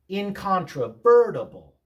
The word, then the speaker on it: incontrovertible: Incontrovertible. Incontrovertible. Institutionalization. Institutionalization. Stress tells you more about how to pronounce a word sometimes than spelling does.